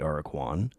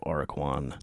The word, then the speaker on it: Aracuan: There is a real bird called the AIR-uh-kwan, more often called the plain. Wow, what? Chacala? Chachalaca. You tell me how that's pronounced.